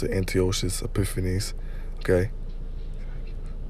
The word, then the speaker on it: Antiochus: Basically defeating the forces that and Antiochus, okay, that's how you pronounce it, Antiochus Epiphanes, okay, Antiochus Epiphanes, okay, he was putting extreme hell, okay,